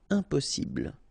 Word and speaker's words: impossible: Impossible. Don't insist on the final E. Impossible.